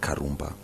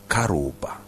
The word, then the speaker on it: Karumba: name karumba yeah so the name karumba when it is pronounced in vernacular it's not karumba it is Koba right Koba and so when I